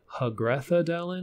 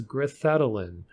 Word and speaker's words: Grithedalen: And yeah, it's not Hagrethadelin like we all thought. I found an audio file in one of the later maps of the announcer pronouncing it as Grithedalen.